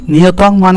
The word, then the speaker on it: নিয়তং: তুমি তাহলে বললাম কি অনুসার উচ্চারণ কি হয় ময় হসন্ত উচ্চারণ হয় তাহলে উচ্চারণ কি নিয়তম কুরু কর্মতম তাহলে এই